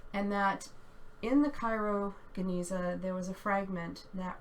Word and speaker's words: Genizah: the Cairo I'll say I'm used to pronouncing it with a hard G so I'll say that Cairo Genizah um they've had they've